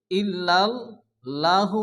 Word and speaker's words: ইল্লাল্লাহু: এখানে ইল্লাল্লাহু অনেকে পড়ে, ইল্লাল্লাহ পড়া যাবে না, কারণ আল্লাহ শব্দ শুরুতে জবর এবং পেশ আসলে আল্লাহর লামকে পুরো অর্থাৎ ল উচ্চারণ করে পড়তে হয়। এখানে হবে ইল্লাল্লাহু মুহাম্মাদুর রাসূলুল্লাহি।